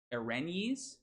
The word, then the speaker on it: erinyes: Erinyes? Erinyes. Okay. Okay, my wife says erinyes, and she's a classics major, so we're gonna trust her on that.